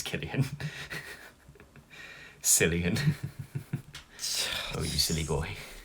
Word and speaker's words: Cillian: too was a killing say his name right it's killian cillian oh you silly